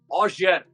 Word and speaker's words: Auger: Asar Asar A இட் ஆஷர் சொல்லுங்களே நீங்களே இந்த ஒரு மட்டும் ஹெல்ப் பண்ணுங்க ஜி இஆர் ஆனா ஆஷர்னு சொல்ல மாட்டாங்க ஆஷர் எப்படி அஸ் எனக்கு